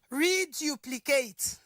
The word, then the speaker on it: reduplicate: It is the pli, that is the third syllables that receives what? The primary stress.